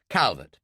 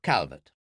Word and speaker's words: Calvert: Calbertt. Phillip. Calbertt. Well, Phillip, she pronounced it the French way, and very nice it sounded too.